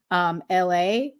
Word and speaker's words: Elhae: good homage is by the artist LA, and that's spelled ELHAE.